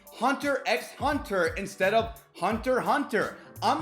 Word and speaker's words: Hunter x Hunter: It's like when people say Hunter x Hunter instead of Hunter Hunter. I'm not writing in those comment sections, hey guys, it's Hunter Hunter. The X is silent.